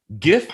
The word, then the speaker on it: GIF: And, if you have an acronym, GIF, G is generally pronounced with a hard G, like guttural sound.